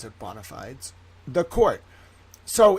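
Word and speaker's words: bona fides: bonafides but I like bonafides it's Latin we pronounce it bonafides the court.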